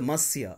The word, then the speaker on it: Monsieur: Monsieur is prefixed so must see it is pronounced Monsieur am ons ie you are so Monsieur Hamel you don't really need to write mr.